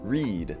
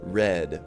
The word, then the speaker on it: read: In the present tense, it says read with a long E sound. But in the past tense, it says read with a short E sound.